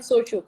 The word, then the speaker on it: shochu: Sake and shochu, correct.